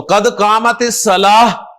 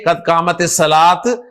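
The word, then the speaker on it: قد قامت الصلاة: तो कद कामत सलाह, हा के साथ प्रोनाउंस करें, कद कामत सलाह, ना के कद कामत सलात, कद कामत सलात।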